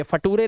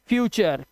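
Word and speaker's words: future: अर इसीलिए इसे पढ़ते हैं नेचर। नटूरे नहीं है। ये फटूरे नहीं है। वो लटूरे नहीं है। ये कलटूरे नहीं है। चर चर नेचर फ्यूचर कल्चर और लेक्चर।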